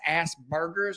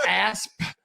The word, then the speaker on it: Asperger's: And I thought it was Asperger's. Yeah. And it's not. It's Asperger's. Asperger's. You gotta pronounce. I've been putting ground beef in it the whole time, dude. Like, I've been straight burgering it.